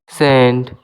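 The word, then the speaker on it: scent: এবার দেখা যাক এ সাইলেন্ট সেন্ট।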